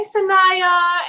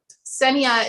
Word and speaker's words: Seniya: a running joke it's he's like hi sanaya and so people literally think that's like my name and that's how you say it but i'm like no no but it's funny i think it's awesome but senia is actually short for yesenia and i thought it